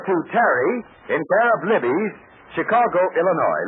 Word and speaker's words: Libby's: carry in care of libes Chicago Illinois libes is spelled l i BB Ys you'll be all set for